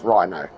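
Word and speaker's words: Ryno: It is spelled R-Y-N-O. Yes. That's Rhino.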